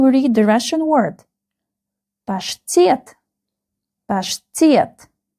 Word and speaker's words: паштет: ПАШТЕТ. ПАШТЕТ. The second syllable is stressed.